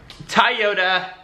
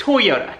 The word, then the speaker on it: Toyota: um toyota wait i think it's toyota toyota so i don't know why for the longest time i've only said toyota and no one's ever corrected him in my entire life and i know it's spelled out t-o-y like toy and then yoda but i don't know